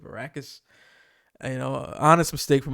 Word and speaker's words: Arrakis: theater review i think i called it arachnus instead of arrakis you know honest mistake